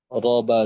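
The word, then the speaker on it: رب: র বা জবর রব, বা লামজের বিল, রব, বিল, তো এখানে রয়ে জবর আসছে, র মোটা হবে, রব বা লামজের বিল।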